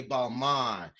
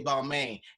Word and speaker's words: Balmain: judge was like well in the fashion industry we say balm on and she was like so why do you say balmy and he said because